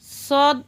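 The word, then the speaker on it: ص: সদ উচ্চারণ কেমন হবে? সদ সামনের নিচের দাঁতের আগা থেকে শীর্ষসহ মোটাভাবে আদায় হবে, নইলে সা অথবা সিন অক্ষর আদায় হয়ে পড়া হারাম হয়ে যাবে।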